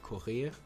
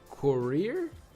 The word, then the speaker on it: Courier: Okay, so this looks like a French word, and I would pronounce it like courir, but I mean, I'm speaking English, so courier.